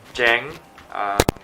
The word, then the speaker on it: Jeng: I'm Jeng, pronounced like Jenga without an A.